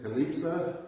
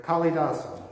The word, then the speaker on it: Kalidasa: Attributed to Kalitsa, is that pronounced right? Kalidasa.